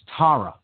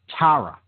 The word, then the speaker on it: Tara: Far East, the goddess Tara. Okay, very similar in pronunciation. Okay, same basic phonetic roots, Tara. And that's spelled T-A-R-A, for those that want to look into this goddess.